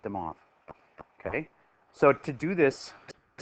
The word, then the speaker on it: de Moivre: name is de mob it's the French pronunciation that looks like de moivre but you'd say it them off ok so to do this mr.